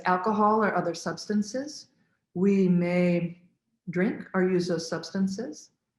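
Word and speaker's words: meh: especially the vowel sound may spelled m-e-h and pronounced like the month of may and this really helps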